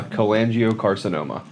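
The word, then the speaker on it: cholangiocarcinoma: If you um want to learn more about and please pronounce the cancer for me because I'm bad at saying it. Uh coangio carcinoma.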